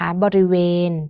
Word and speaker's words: บริเวณ: เสียง ออ นะ คะ พยัญชนะ ไทย ที่ ไม่ มี รูป สระ กำกับ แต่ ออก เสียง เป็น ออ ก็ อย่าง เช่น คำ ว่า พร นะ คะ บริเวณ ปรนัย นะ คะ ก็ จัด ว่า เป็น คำ อ่าน ยาก นะ เพราะ ว่า ไม่ ปรากฏ รูป สระ แต่ ว่า อ่าน ออก เสียง อย่าง มี สระ นะ คะ คำ ที่ ออก เสียง